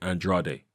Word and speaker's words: Andrade: is what it is it's a Spanish name as far as I'm aware and the Spanish pronounce it and draw day you know slap the